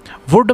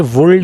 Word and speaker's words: would: का यूज of what वुड mail silent होता है कभी भी यह गलती नहीं करनी है वर्ल्ड नहीं बोलना इसको बाकी वैसे तो